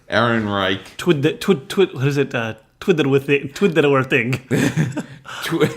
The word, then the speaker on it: Ehrenreich: Ehrenreich. Ehrenreich.